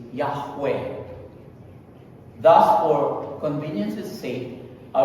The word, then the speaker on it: Yahweh: However, most scholars today agree that the closest pronunciation of YHWH is Yahweh.